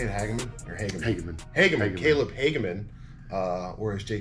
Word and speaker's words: Hageman: Hageman.